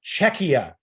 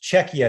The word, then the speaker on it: Czechia: to see you on the panel it is pronounced czechia it's pronounced czechia thank you very much uh for that um